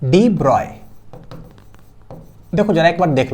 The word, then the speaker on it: de Broglie: सही लिखा जाता है लेकिन इनका जो रियल नाम जो प्रोनंसिएशन है ना वो है डिब्रॉय ब्रॉय बी आर ओ वाई ब्रॉय ठीक है तो प्रोनाउंसड एस डिब्रॉय डिब्रॉय डिब्रॉय तो कोई बात